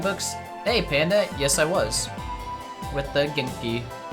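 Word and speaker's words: は: oh that's a wah it's really it bothers me that um ha is pronounced wa like but I don't know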